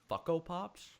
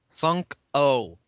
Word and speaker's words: Funko: Did you say Fucko Pops? Funk-O. That's the company name, boy. You're a fucko. Thanks. I buy way too many Funko Pops for my own good. I have 37. Oh, pronounce the N, boy. Am I saying it weird?